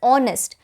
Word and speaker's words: honest: in the case of honest your h is silent and it actually is pronounced as honest o which is a